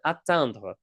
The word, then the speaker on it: atteindre: It's another very high frequency word and it is the word atandra. Now careful, it's not pronounced the same asandra.